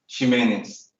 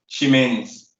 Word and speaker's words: Ximenez: So how is it again? So I can say it properly again. Ximenez. Say it again, one more time. Ximenez. Ximenez. Okay. Yeah, S-H.